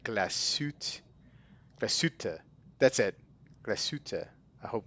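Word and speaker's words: Glashütte: Glassute.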